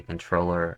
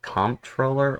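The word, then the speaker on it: comptroller: the office of the controller of the currency now this word right here can be pronounced as comproller or controller um I know that sounds weird but look it up um so I'm just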